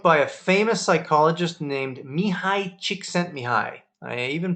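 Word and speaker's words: Mihaly Csikszentmihalyi: Flow is a book by a famous psychologist named Mihai Csikszentmihalyi. I even pronounced it right.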